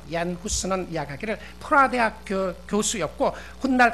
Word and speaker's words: 얀 후스: 눈을 감을 그 당시에 그 나라 발음으로 하면 얀 후스인데요. 얀 후스는 이야기하기를 프라 대학 교수였고 훗날 같은 대학의 총장까지 지냈던 사람이었는데, 후스는 가난한 농부의 집안에서 태어나게 됩니다.